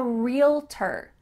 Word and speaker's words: realtor: And the last one in this category is I'm a realtor. Realtor. It sounds like just real plus T-E-R, but it's not spelled like that.